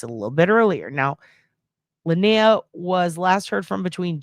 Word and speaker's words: Lenia: And I think it's actually pronounced Linnea.